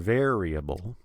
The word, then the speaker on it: variable: a name for a variable there variable see there's the r followed by the e sound again the same thing you